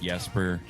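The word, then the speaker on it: Jesper: Is anybody else bothered by the fact that Yesper's name is pronounced Yesper and there's a J at the beginning?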